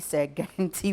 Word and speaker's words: Sagrenti: It's the Sir Garnet War. But we can't pronounce Sagrenti, it. Sagrenti. Yeah, the so, Sagrenti now, all people know, even from social studies. Yeah, it's Sagrenti War. All we know is it is the Sagrenti War.